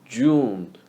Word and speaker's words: 拒: So 拒 is June without ne sound. June, ju, ju. 绝 is ju sound followed by e sound in the second tone. Ju, e, jue, jue.